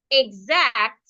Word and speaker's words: exact: So I would I would say that the word exact we are stressing the second syllable. We are stressing the ac. We are stressing this syllable. So it means that the E is not stress.